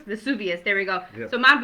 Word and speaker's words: Vesuvius: because of the eruption of mount i cannot pronounce this very well but mount macias i think uh vesuvius vesuvius there we go so mom vesuvius erupted in